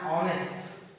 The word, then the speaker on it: honest: for example here here an honest here an honest and honest and honor and are these are